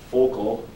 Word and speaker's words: Vogel: Josef Vogel or Wolf. Focal was is in low German how it's pronounced.